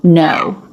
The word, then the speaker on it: know: already know it but this word is pronounced the exact same way as this word n consonant o diphthong no yeah I know yeah